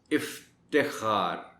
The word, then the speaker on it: افتخار: کے پڑھا جانا چاہیے۔ افتخار، تے کو زیر کے ساتھ بولا جائے باقاعدہ، افتخار۔ روشن، کچھ لوگ روشن